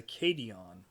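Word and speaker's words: cation: amount positive ion and that's a cadon or sadon I guess it's kadon but it's spelled with a C such imbalances are caused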